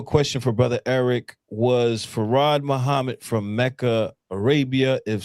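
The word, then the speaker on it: Fard: F A R R A D is how it's pronounced.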